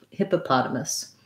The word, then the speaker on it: hippopotamus: must i almost have no vowel i almost try to go right from the m to the s hippopotamus um yeah okay not